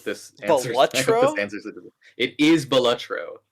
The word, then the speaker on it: Balatro: I actually learned this week that it's pronounced Belutro. So I hope this answers it. It is Belutro. Not Balatro.